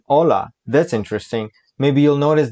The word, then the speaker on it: hola: pronunciation hola como estas h is not pronounced in hola that's interesting maybe you'll